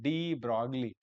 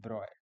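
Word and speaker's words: de Broglie: mention actually we Indian students pronounce it as D Brogley. We pronounce it as it is written but actual pronunciation is dro but we Indian students are used to calling it drogley.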